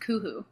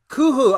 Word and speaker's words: Kuhoo: just want to correct you my uh it's pronounced kuhu kuhu okay i'm so sorry no it's okay that's